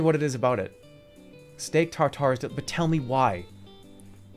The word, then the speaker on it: tartare: Steak tartare.